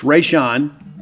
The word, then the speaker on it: Rayshawn: It's spelled much differently. It's spelled like Rasheen, but it's Rayshawn Thomas.